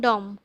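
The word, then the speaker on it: dumb: देखंतु the crowd gathered there became डम which letter इन डम is silent in pronunciation. Option गुड़िका देखंतु एम बी यू डी।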